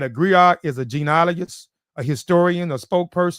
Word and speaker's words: griot: anyway let's get into the gri and gri griot segment like what is uh what is a